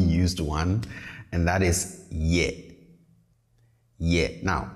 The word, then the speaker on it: ye: is ye yeah now please pay attention to how i pronounce this i say yes not yet okay so the tone is on the lower side yeah yeah not yet if you bring the tone up you might be saying something completely different and